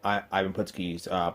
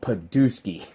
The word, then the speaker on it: Ivan Putski: always found annoying but Jesse Ventura mispronouncing the wrestlers names he did it with Tito Santana called Chico I haven't put ski he pronounced at Purdue ski I I know it's